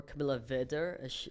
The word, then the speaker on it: Camilla Weder: So it all started when I met this individual named Camilla Weder, or Camilla Weder, as it's properly pronounced.